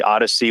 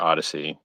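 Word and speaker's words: Odysee: like anyone that has a homophone for a brand name is so why do i have to why do i have to spell the word odyssey because you guys chose to misspell it and make it your brand so o d y s e e is how you spell their odyssey because they don't know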